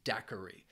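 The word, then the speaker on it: daiquiri: drink in there and that drink is a dairi dairi has three syllables and the stress is on that first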